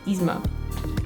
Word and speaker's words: Yzma: Yzma, it's just Yzma.